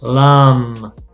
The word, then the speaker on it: lamb: So you pronounce the T, but not the B. That. Doubt. Yeah. Doubt. Dam. Dam. Lamb.